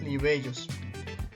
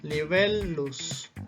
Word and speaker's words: libellus: Pero en latín, ¿qué sucede? No tiene el mismo sonido, sino que se pronuncia como si separáramos la palabra. Y vamos a pronunciar libellus, libellus. Es la forma correcta de pronunciarla.